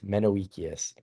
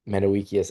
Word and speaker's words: Menoeceus: So some people struggle pronouncing the name of Epicurus's friend. It's Menoeceus. And it's debatable, but some people see Menoeceus as a fellow Epicurean that Epicurus was writing a letter to.